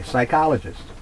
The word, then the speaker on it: psychologist: that's why borrow huh psy psychologist there you go the p is silent pterodactyl pterodactyl the p